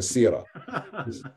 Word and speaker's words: Sirah: The Sirah, which you're pronouncing it incorrectly, it's called the Sirah.